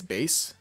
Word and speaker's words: Base: I think it's base. I think that's how you say it. It's not bass. There's no way.